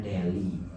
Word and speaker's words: Delhi: Delhi bacanya Deli ibu kota bukan ibu kota, kota besar di India.